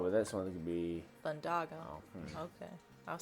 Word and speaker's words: Thundaga: Thundaga.